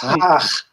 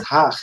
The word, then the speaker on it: Haag: Yeah, it's Haag. Haag. We call it Haag in the Netherlands.